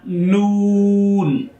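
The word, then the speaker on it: ن: After the meme is the next letter is a noon. Noon. You around of your lips and make it whole of your lips, and then you pronounce of this noon.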